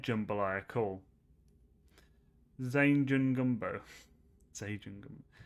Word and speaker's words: jambalaya: I pronounce it Jemhada. Oh, okay, so it is said Jambalaya.